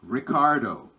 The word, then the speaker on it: Ricardo: But it sounds like a H, Heco Heco, because the first R in Portuguese sounds like a H. And what's an example? Ricardo. It would be Ricardo. Ricardo.